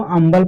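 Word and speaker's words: humble: देखिए अगला एग्जांपल है, इसको अम्बल पढ़ते हैं, इसको हम्बल नहीं पढ़ते हैं। यानी कि एच आपका क्या है, ये साइलेंट है।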